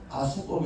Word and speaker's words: AskUp: 우리 는 영어 단어 "AskUp" 을 한국식 으로 발음 하여 " 아스업 " 이라 고 부릅니다 .